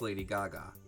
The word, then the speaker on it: Gaga: Or it could have been Lady Gaga, but with J's instead of G's, but still pronounced Lady Gaga.